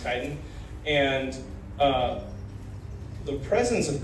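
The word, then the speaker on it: chitin: spelled c h i t i n it's kiten it's pronounced kiten and uh the presence of kiten in soil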